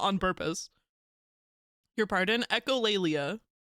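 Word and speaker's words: echolalia: Echolleia. That is how you say it.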